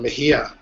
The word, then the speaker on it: Mejia: last name is U Mahia um m e j i a The J sounds like an H so kind of like jalapeno you wouldn't say Chapo the way you're saying